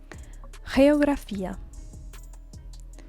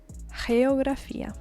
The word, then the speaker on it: geografía: Geografía. Geografía. Geography. Remember, in English we say geography, geo. In Spanish it's geo, because it's G followed by an E. It's pronounced G.